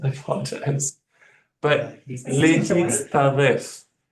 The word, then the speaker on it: להצטרף: But lehitztaref. So I kind of, in the transliteration, kind of broke it down a little bit. Lehitztaref. Lehitztaref. Just have to practice it.